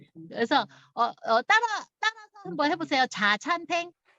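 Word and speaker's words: 茶餐廳: 자찬탱. 그래서 따라서 한번 해보세요. 자찬탱.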